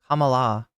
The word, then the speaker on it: Kamala: say it right now Kamala you pronounce it like malamala okay wait is that